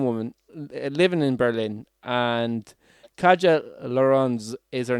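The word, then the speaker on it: Katja: living in berlin and kajal lauren's is her name that's k-a-t-j-a so you can try to pronounce that as best used can but that's how i'm going to kaja uh so kaja is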